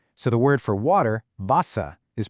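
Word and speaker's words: Wasser: So in English we say water, but in German that W is pronounced like an English V. So the word for water, Vasa, is pronounced vasa.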